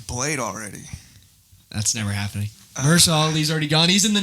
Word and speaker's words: Mahershala Ali: comments, the top comment, it said, was it Marshalla? Is that how you pronounce it? Mahershala Ali.